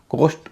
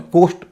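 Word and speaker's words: cost: और एल ओ एसटी कोस्ट और लॉस्ट इसमें कोस्ट और लस्ट नहीं होगा कॉस्ट और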